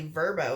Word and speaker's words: VRBO: go through like um it's VRBO but I just recently learned that it's actually verbo is how you say it more like an